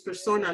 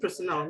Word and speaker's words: Persona: please just keep practicing so it's Persona not personal not my personal or something you know it's just you know Persona thank you and Bully